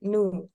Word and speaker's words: knew: Ini kayak ngomong kayak knew. He knew, jadi kayak K-nya hilang, bukan he. Knew tapi kayak langsung he knew, kayak he knew gitu kan.